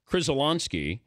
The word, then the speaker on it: Krzyzewski: Krzyzewski, pronounced Krzyzewski, or some other variation, has made a name